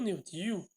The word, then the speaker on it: New Deal: Que foi uma das principais propostas do New Deal, ou do New Deal, como vocês podem ler, né? Se pronuncia New Deal, né?